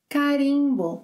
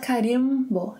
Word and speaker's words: carimbo: Carimbo. It's not carimbo, eh? Carimbo.